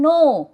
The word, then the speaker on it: know: Then no, K-N-O-W, no, it is not now, it is no, K-N-O-W, no, K-N-O-W, no.